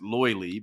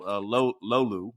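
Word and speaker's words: löyly: In other areas, it's a lot of Americans pronounce it loily, but I believe it's called lolu, right?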